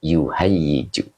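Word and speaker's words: يُهَيِّجُ: Nah, ini bacanya hayyaja yuhayyiju. Ini mazid satu. Fa'ala yufa'ilu. Ya, jadi dibaca yuhayyiju.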